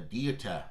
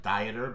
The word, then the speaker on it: Dieter: This is the Dieter. It looks like Dieter, but I'm pretty sure it's pronounced Dieter.